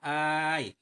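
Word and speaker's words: آيْ: Bacanya dengan mad, panjang hamzah, ai. Dan dengan sukunnya.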